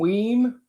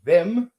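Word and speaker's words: Vim: Terram is earth and weem or vem, but weem is how to pronounce is raw magical power.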